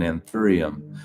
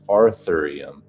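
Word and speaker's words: anthurium: an I'm sorry kind of looks like an anththerium with the longest time which for the longest time I mispronounced as artherium until CC corrected me except it's bright pink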